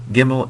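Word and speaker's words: gimel: the next video um gimmel is a g is a hard G sound that is it's pronounced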